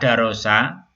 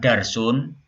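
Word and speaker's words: درس: Nah, kata darosa sini kita baca darosa, ya, bukan darsun. Bukan dibaca darsun, dibaca darosa.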